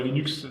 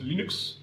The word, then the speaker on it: Linux: Alors Linux en anglais se prononce Linux et non pas Linux, selon la volonté du créateur.